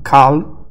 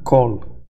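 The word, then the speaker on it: כל: Então, não cal e sim col.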